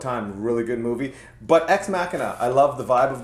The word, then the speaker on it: Ex Machina: me know where you're going what is it X mashina that's how I pronounce that but I guess the real pronunciation is ex machina and yeah I'm not a why is the